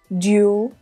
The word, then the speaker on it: duel: The words duel and cruel have the same vowel letters and also the same vowel sound. They're pronounced in the same way with just one syllable. Fuel, duel, cruel.